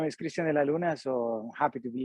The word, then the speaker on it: Cristian de la Luna: I want to say Cristian de la Lune. Cristian de la Luna. De la Luna. Yep. It's not French. It's Colombian.